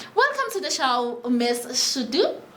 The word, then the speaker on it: Shudu: Now, joining us today is Shadu. Yes, am I pronouncing your name correct? Shudu. Oh, yes, Shudu, yes.